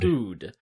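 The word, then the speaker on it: Pode: It's spelt Pod, but you call it Pood. Pood.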